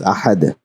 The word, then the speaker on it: أحد: We are going to learn that in detail in the coming lectures on waqf, but we know that it is pronounced as ahad.